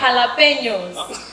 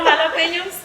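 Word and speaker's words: jalapeño: letters for instance in in spanish j is pronounced as a her instead of a gel right like like jalapenos remember jalapenos yeah so it's called g-a-j-g-m-yes and most people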